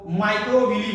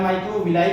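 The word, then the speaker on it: microvilli: इस finger like structure को माइक्रोविली बोला जाता है। माइक्रोविली या माइक्रोविलाई भी पढ़ते हैं आप, इसको कंफ्यूज नहीं होगा, प्रोनाउंसिएशन अलग अलग टीचरों का अलग अलग होता है।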